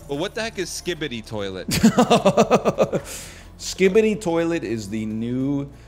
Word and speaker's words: Skibidi Toilet: Skibidi Toilet, yeah.